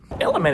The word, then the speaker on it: LMNT: a special thanks to element pronounced element for sponsoring today's video